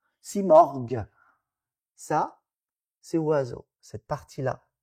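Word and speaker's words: Simorgh: Donc vous voyez bien l'évolution mar à la fin que nous on prononce morg. Simorg, ça c'est oiseau cette partie-là du mot on va voir après ça.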